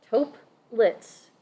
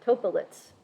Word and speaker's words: tuplets: an example tuplets so I always say this wrong it's taupe lits and I always stick an extra syllable in there topolitz so bear with me